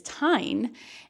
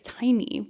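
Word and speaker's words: Tairn: And she said that Mira's dragon is Tyne, and the audiobook, it's Tiny, which I don't think Tiny probably isn't right, but in this audiobook, it's still Tiny.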